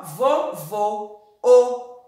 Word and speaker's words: vovô: ó é diferente o vovô ou então ó essa do assento o leque presta atenção vó acento agudo ó vovó vovó o acento circunflexo vovó aberto vovô fechado o ó e vovó